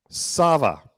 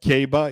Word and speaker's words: Sava: complex here we go sava so it's not caba it's not kaba it's sava okay sava the second biggest the